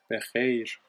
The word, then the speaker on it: بخیر: شب بخیر. خ sound. خ. Like cleaning your throat.